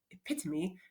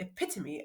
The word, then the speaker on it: epitome: tire was the epitome Oh it pits me if you say it like the lady in the dictionary the epitome of manhood so what